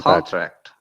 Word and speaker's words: contract: pronounce it so now contract contract like uh down to upper as a verb so stress on the second contract yes stress on the second part would be verb contract contract yes okay